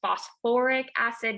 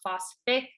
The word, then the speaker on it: phosphoric acid: And then with phosphorus, we would add an OR, so it's phosphoric acid, not phosphic.